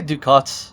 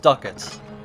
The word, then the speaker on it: ducats: tinder box okay sorry did i say duke they're pronounced duckets it's weird remembering the